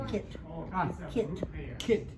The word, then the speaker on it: Kit: Ah, Kit. Kit. Kit. Like a kitten, but Kit.